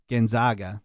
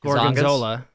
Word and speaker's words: Gonzaga: Gonzaga. Gonzaga, like Baga. Gonzola. Gonzaga. Gonzaga. Okay, Gonzaga. So. Like Zag. It rhymes with bag.